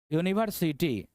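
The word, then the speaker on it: university: यूनिवर्सिटी, यूनिवर्सिटी। अब देखिए यहां भी यू ही था, यहां भी यू ही था, लेकिन इसका उच्चारण यो आ रहा है, यूनिवर्सिटी।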